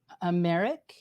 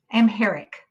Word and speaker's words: Amharic: This is an experience where you were sitting with an African woman, and she spoke a language called Amharic. Amharic. Amharic. Okay, thank you. Amharic.